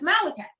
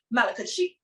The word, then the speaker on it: Malachi: His name is Malachi.